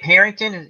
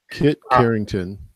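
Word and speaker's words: Harington: name Kip something kid Carrington kit Carrington thank you another name I've butchered did I say kit Carrington what am I talking about it's Harrington he did a remake of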